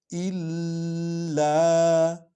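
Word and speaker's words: إِلَّا: साथ मिलकर पढ़ा जाएगा इल्ला इल्ला ठीक है क्योंकि लाम पर शद है तो ये इकट्ठे पढ़े जाएंगे और यहां जोर भी आएगा शद वाला ह कितनी बार पढ़ा जाता है दो बार पढ़ा जाता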